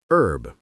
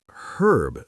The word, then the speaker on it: herb: Americans say herb. The H is completely silent. Herb. Right. The British say herb. They actually say the H, which makes more phonetic sense. The H is right there.